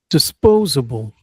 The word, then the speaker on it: disposable: Disposable stress on the first, excuse me, second syllable. Disposable right there.